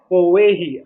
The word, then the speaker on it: Powehi: So they came up with this Hawaiian name called Powehi, I guess.